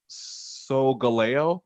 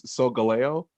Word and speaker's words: Solgaleo: Solgaleo. Oh no, yes, it's Solgaleo.